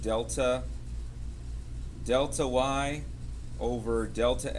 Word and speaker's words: delta: And that's um that's pronounced delta deltay over delta x. And um um delta delta is just a Greek letter and it means um we use it in math is we mean change.